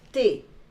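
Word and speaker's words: thee: can read and see t h e e we pronounce it as tea tea tea doesn't it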